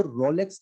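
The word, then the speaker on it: rouleaux: इसको रोलेक्स कहते हैं, रोलेक्स नहीं कहते हैं। हिंदी में ऐसा लिखा हुआ है, रोलेक्स की स्पेलिंग होती है कुछ ऐसे, ये रोलेक्स है। इसको जो है रूलेक्स कहा जाता है, रूलेक्स स्पेलिंग होती है ये वाली।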